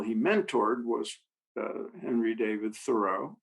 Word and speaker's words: Thoreau: mentored was henry david thoreau thorough uh i have to get the pronunciation right thorough uh who in his